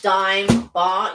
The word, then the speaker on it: Dime: A dame one. Dime. Dime. Dime one. Dime bar. You should know it's pronounced dime.